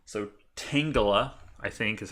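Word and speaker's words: Tangela: used to pronounce it tangula but that's because I was an idiot because Tanga I think it's supposed to be like Tangled right a bunch of vines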